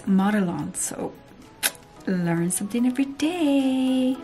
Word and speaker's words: Modelones: I was pronouncing it Modelones. That's what how you would say this in Spanish, Modelones. But it's Modelones, so learn something every day.